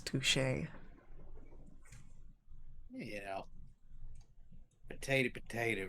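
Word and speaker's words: touché: Touch to as the high society friends say. Ron who nods uh with a yawn. Uh I'm pretty sure that our high society friends have pronounced it as touche.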